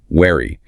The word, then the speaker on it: wary: For the W, the teeth are entirely unevolved. Your lips push forward into a tight round circle. Wary.